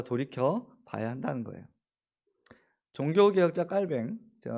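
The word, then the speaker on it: Calvin: 봐야 한다는 거예요 종교개혁자 깔뱅 깔뱅이라고 하는 이유가 있어요 보통 이제 칼빈이라고들 하시는데 영어 발음이죠 빨갱은 스위스 독일 이쪽에서라고 자랐어요 그쪽 사람들은 깔뱅이라고 불렀어요 그러니까 자기 이름 부르는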